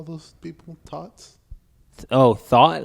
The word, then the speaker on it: thot: Yeah, Thought. see? Thought. So it's spelled THOT, but you pronounce it THAAT.